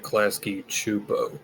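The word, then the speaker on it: Klasky Csupo: What if I told you Klaskkeyo made the same show twice and ran I pronounce it Klasky Chupo?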